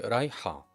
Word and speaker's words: رايحة: All you need to do is to add the feminine case to the end of it, which is always pronounced ah. That's the feminine case. So you'd say رايحة, a feminine talking.